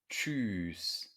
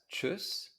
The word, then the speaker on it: tschüss: and this would be choose this in the dictionary it is listed as chus however in spoken german it's often pronounced choose especially when people are kind of in a playful mood and they're saying by